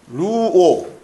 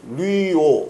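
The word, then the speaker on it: λύω: 이 신발끈을 풀다라는 단어가 루오, 리오 이렇게 해도 되는데 아무튼 리오 이렇게 발음을 해요.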